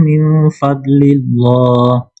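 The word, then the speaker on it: فَضْلِ اللّٰهِ: Faidza qudiyatis shatu fantasyiru fil ardhi wabu min fadlillah wkurullaha katsir la'allakum tuflihun. Coba wabtagu baca lagi. Wabtaghu wabtagu min fadlillah. Nah, oke. Ingat kalau kasrah sebelum Allah itu bacanya muraqqaqah ya.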